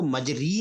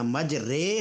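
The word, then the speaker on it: مجرىٰ: ہیں۔ اچھا پروفیسر صاحب، یہاں کہتے یہ ہیں کہ قرات میں اس کو مجری نہیں پڑھنا، مجرے، ہاں غالباً یہ عربی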